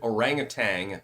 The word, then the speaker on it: orangutan: I don't have a problem with the orangutans. I even like the corrupt ones because they're orangutang. And I am going to pronounce it orangutang, not orangutan, by the way.